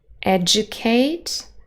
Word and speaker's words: educate: could or the other word we had before educate so the J that formed from the D